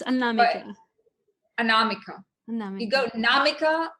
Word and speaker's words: Anamika: pronounce your name because I pronounce it of course with my Portuguese pronunciation and I would say anamik but I'm not sure if the tone is on the right place that that's that's actually pretty correct an Nam but it's Nam yeah the the tone